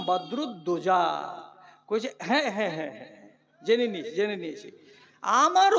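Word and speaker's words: বদরুদ্দোজা: উচ্চারণ করতে পারে না একবার আপনার নাম বদরুদ্দিন আরে বাবা আধখানি হইল আখানি যে হইল না রে বদ্ নয়রে বাবা আমার নাম বদরুদজা জেনে নিয়ে জেনে নিয়ে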